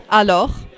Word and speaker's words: alors: The final consonant is not pronounced. For example, in vous, alors, assis, you have an S in the end, but you don't pronounce it.